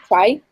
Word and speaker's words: chi: Chi-squared. Chi? Chi, like kite, but chi. Chi. Oh, is that how you say this, the CHI? Yeah. All right. Chi-squared. I bet you, have you been saying chi squared?